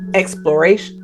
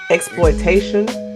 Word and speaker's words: exploitation: Do you say it like exploration? No. Exploitation? Exploitation. Yeah. Exploitation. Exploitation. Did I say that right? Exploitation. Exploitation. Exploitation. Yeah. Exploitation. Exploit. Exploitation. Put that T in there.